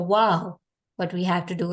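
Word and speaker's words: واو: have to do is we just have to round our leg and it's going to be similar to the one that we say in English as like wow what a beautiful thing to phrase something right so the pronunciations are same wow and then when we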